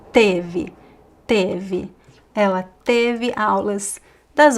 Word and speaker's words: teve: It's not tive, it's teve.